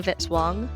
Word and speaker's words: Vitz-Wong: Music by Kevin Vitz-Wong, rhymes with hit song.